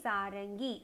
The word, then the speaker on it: सारंगी: Sa-ra-ing-gi. And the dot you have to pronounce it as ing. Okay. Sarangi.